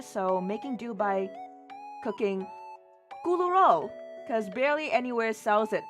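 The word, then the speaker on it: 咕嚕肉: And in Cantonese, we kind of pronounce it as kuloyok.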